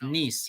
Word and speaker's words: Nice: modern automobile at nice it's spelt nice but it's french it's pronounced nice n-i-c-e at nice week